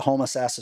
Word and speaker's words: Homosassa: Then you went to Homosassa Springs and did moto and a cross country race.